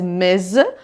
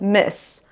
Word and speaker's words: Ms.: You should say it as Ms., not Miss.